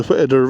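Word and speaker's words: Whiteadder: So we are heading to the right here, up towards the Whittader Reservoir, which is spelt White Adder.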